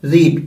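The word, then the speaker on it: read: First form को आपको sound देना होता है रीड, सेकेंड फॉर्म को रेड और थर्ड फॉर्म को रेड.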